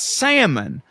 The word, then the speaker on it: salmon: it's it's salmon the the L is is silent he goes he goes sometimes yeah and I was